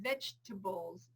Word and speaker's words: vegetable: And this is another one of those dropped syllables. Perfectly acceptable. So I love chocolate, not chocolate. And I have to eat my vegetables.